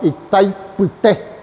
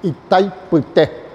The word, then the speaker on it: Itaipuité: Y esa zona rocosa se le denominaba Itaipuité, el nombre indígena, Itaipuité. Y los brasileros no sabían pronunciar el guaraní y se quedó en Itaipú.